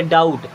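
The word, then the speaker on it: doubt: और यहाँ पे B होता है साइलेंट, तो इसे डाउट नहीं पढ़ते, डाउट।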